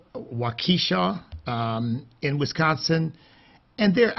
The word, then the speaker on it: Waukesha: these folks out there and i think it's pronounced waukesha um in wisconsin and they're out there enjoying